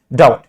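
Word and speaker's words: doubt: में ये होता होगा इसको क्या पढ़ते हैं डाउट क्या पढ़ते हैं डाउट इसमें आप कभी भी बी को प्रोनाउंस नहीं करते हैं कभी भी हम बी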